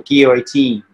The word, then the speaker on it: guillotine: Okay, I could show you a choke that's called a guillotine. Okay, or guillotine, another way it's pronounced.